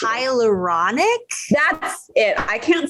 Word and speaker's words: hyaluronic: serum serum mixed with hyaluronic i'm saying it rhymes with with hydrochloric acid write that down burn